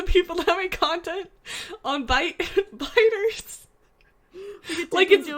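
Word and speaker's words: Byte: I mean, it is spelled B-Y-T-E and not B-I-T-E, but, like, still, it's Bite.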